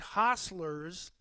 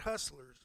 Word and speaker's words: hostlers: And keep in mind, hostlers, and that's spelled H-O-S-T-L-E-R-S, not hustlers.